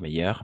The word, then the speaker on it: meilleur: Meilleur, meilleur, meilleur. Toujours meilleur. La même prononciation.